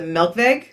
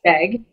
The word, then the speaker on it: Melkweg: So there's a venue in Amsterdam called the Melkweg. Do you know that venue? Yes. M-E-L-K-W, pronounced as V-E-G. E-G. Yes. Melkweg in Amsterdam.